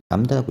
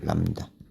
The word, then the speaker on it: 람다: 람다라고 읽어요. 람다.